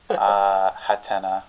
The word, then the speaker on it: Hatena: Hatena. Hatena. Because Japanese pronunciation.